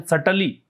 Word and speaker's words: subtly: ये जो सटली दे रखा है ना, SUBTLY, इसका एक मतलब, इसका पहली बात तो प्रोनाउंसिएशन सटली, बी को म्यूट रखें, बी का उच्चारण ना करें।